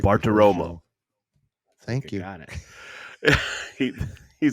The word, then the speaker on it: Bartiromo: Bartiromo.